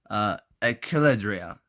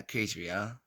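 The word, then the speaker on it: Akrida: if I can remember the name of it, Achilledria. Kind of mispronounced the name. Achidria. Yeah, Achidria.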